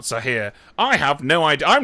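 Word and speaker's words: ساحر: If so, it's pronounced Sahir, not Sahir.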